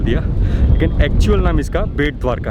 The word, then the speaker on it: बेट द्वारका: लेकिन एक्चुअल नाम इसका बेट द्वारका है, क्योंकि सुदामा जी जो थे यहाँ पर ही भगवान कृष्ण के लिए भेंट लेके आए थे, गिफ्ट लेके आए थे।